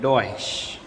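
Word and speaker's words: Deutsch: फिर उसके बाद आता है ई यू, मीन्स कि उसका होगा ओ वाई, ओई, ऐसा प्रोनाउंस करेंगे हम। तो उसमें है हमारा जो जर्मनी को बोलते हैं डॉइश, ये डॉइश बोलते हैं जर्मनी को।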